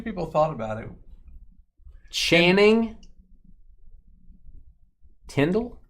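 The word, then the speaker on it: Tindall: Channing, Tundle. How do you say it? Tyndall, Dolphins.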